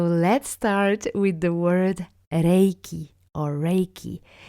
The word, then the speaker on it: Reiki: It's correct to say Reiki or Reiki, but not Reiki or Reiki with an A. So this pronunciation mistake I hear quite often with French speakers. And it touches on the very foundation because the word Reiki itself in Japanese is pronounced Reiki, with an E that is quite long, almost like an accent is on A, Reiki, Reiki.